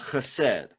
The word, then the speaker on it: chesed: a word tonight called hased if you want to write that down it is c-h-e-s-e-d and you have to say it like you have something caught in your throat it kind of looks